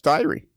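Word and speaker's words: Diery: Yeah, so it's diary. D-I-E in any language is die, and then an R-Y, and it's diary. Rhymes with fiery.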